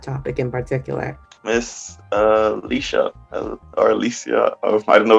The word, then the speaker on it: Alicia: americans usually say alicia i grew up with alicia which is the hispanic heritage of my mom um where my name came from so is how i grew